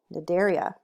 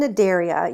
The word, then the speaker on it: Cnidaria: on to the phylum Cnidaria so the phylum Cnidaria you don't say the C to C is silent is named for its